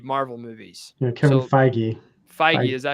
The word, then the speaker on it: Feige: Feige, is that how you say it? Yeah, Feige.